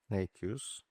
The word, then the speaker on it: Nejc Jus: Üçüncü konuğum, ismini telaffuz etmek biraz zor. Sayın Nejc Jus. Nejc Jus.